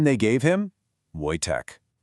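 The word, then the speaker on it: Wojtek: And the name they gave him, Voytech. You pronounce it Voych, and it means joyful warrior.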